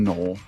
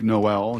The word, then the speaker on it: Noel: It is Iowa State wide receiver Jaylin Noel. When you look at the name, if you want to sound smart with your buddies, it looks like Noel. It's Noel. It's not Noel. It's pronounced Noel.